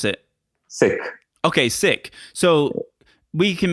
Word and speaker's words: Sikh: But Sikh is a religion. It's actually not even pronounced Sikh, and I've kind of now got accustomed to pronouncing it Sikh. But it's how do you pronounce it? Sikh.